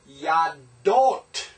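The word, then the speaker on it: יָדוֹת: The plural is yadot, yod, comets, dalet, holem, o and t, tav. Yadot.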